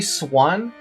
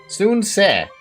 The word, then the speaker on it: Sun: They keep calling the Soon family Swin. They say Swin is what I was hearing. I'm like, that's not how you say it, dude. It's Soon family. Soon-se. Not Sun-se. Sun-se. Soon. Not Swin.